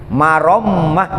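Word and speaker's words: مرمة: Lapad marommah pakai tasdid, marommah bacanya, dipatahkan mimnya, ya kan, pakai tasdid, marommah ai islah.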